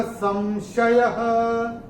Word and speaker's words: संशयः: और विसर्ग चरण की समाप्ति पे आ रहा है, इसका उच्चारण केवल और केवल ह ही होगा। कैसे होगा? युज्यते नात्र संशयः, ऐसे करके आएगा।